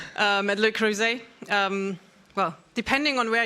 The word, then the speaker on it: Le Creuset: I've gotten used to pronouncing it the English way. So Luc but yeah actually it's a French company so Luc um and um yeah